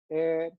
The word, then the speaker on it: heir: We don't say har, we don't say hair, we don't say honest. We say are, air, honest.